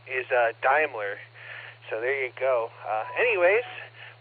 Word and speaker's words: Daimler: The pronunciation is Daimler.